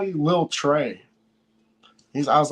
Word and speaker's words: Trea: always spell it TR whenever it spelled TR EA they want to say Tria and like but the a supposed to be silent on my name that's why it's Trey